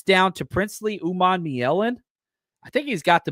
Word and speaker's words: Umanmielen: We got the pronunciation guide down. Umanmielen.